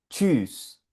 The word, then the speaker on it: tschüss: Se dice, míralo, aquí está la combinación TSCH y suena tschüss, tschüss, ch, ch, ch.